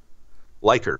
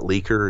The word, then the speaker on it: Leiker: Leiker, Leiker. It's a German name. It's not Leaker. It's not Laker. It's not any of these other weird pronunciations. It's Leiker.